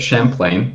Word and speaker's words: Champlain: logo change, the Lake Champlain, however you want to pronounce it, because I don't know, Lapras. So it's Lake Champlain.